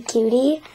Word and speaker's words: Cute: Cutie, even though you spell it cute. I was like 6 years old when I got her. I spelled it cute, but it's really cutie.